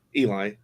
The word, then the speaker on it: Eli: In America, it's Eli, but it's technically the French spelling, so Ellie is also technically correct. Which do you prefer? Eli.